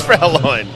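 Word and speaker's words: Fräulein: Is it pronounced Fra Line? Is that it? Just put a crapload of exclamation points if it is. I believe it is Frow Line.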